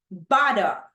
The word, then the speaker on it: butter: We have butter. Butter. So where is the stress syllable, Cristian Veloso? Bada in the number 1 syllable. Correct, the first one.